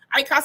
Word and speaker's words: IQAS: ICAS Alberta is spelled as IQAS.